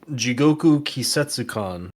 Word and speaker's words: Jigoku Kisetsukan: Thomas, would you like to pronounce the words? The game's called Jigoku Kisetsukan.